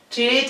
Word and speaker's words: treat: Treat is spelled T-R-E-A-T and is pronounced treat. We have to lengthen the sound the same as in the word beat that we saw in a previous video.